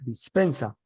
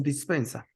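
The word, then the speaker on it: Dispenza: es un señor llamado Joe dispensa o Joe dispensa creo que se pronuncia mejor así yo las dos cosas son válidas Bueno entonces este hombre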